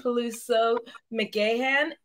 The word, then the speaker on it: Peluso McGahan: hello hi everyone so today we have paluso McAn am I pronouncing that right it's perfect good and uh